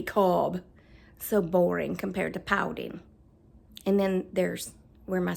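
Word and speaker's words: Paulding: do not pronounce it Pauling they say ping pin actually there's no G on the end I mean there is but they say pin pin so when I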